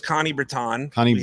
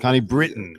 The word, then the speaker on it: Connie Britton: So the name is Connie Breton. Connie Britton. Connie Britton. Oh, it's spelled Breton.